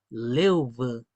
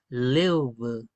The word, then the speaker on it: lev: La primera que es río, lev lev lev con los dientes.